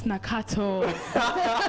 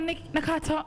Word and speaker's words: Nakato: Nakato. Is that how you pronounce it? It's Nakato. You know, yesterday I went to the Tarika and I was like, my name's Nakato.